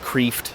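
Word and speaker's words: Kreeft: spelled his name earlier it's Peter CF it's pronounced cfed it's uh sometimes you'll hear it pronounced Cref that's how it's spelled k re e e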